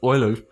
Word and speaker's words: Euler: Haim he has an impeccable pronunciation of boiler you know the famous Swiss Swiss yeah mathematician but no one in the West that is Euler Euler yeah but like this